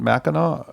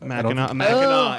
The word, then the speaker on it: Mackinac: I Googling believe it's things right pronounced now. differently, but I think it's called Mackinac. Mackinac.